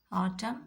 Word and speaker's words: autumn: Autumn and column. So N becomes silent when the combination of M and N together, two letters.